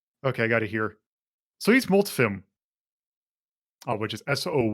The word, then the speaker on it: Soyuzmultfilm: because I am not super familiar uh-huh Russian pronunciation I in my enemy by okay I got it here soyuzmultfilm I which is soo y uz m UL